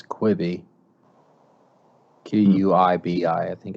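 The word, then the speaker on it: Quibi: it wasn't too good is that how you say it creepy quivey i think it's quibby q-u-i-b-i i think it's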